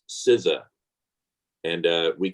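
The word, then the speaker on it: CISA: pronouncing my agency correctly it is the cyber security and infrastructure security agency pronounced scissor and uh we call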